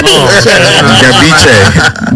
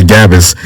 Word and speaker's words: Gabice: Gabice. That's the real pronunciation, but it's been Americanized. See, and that's another beef that I have with my family, though. They always like to say Gabis.